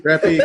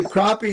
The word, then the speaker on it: crappie: no, that's the right spelling, but the wrong pronunciation. Oh, call Yeah. them crappy. Crappy, Crappy. crappy, crappy. You Heck, say crappie, and I was saying Yeah.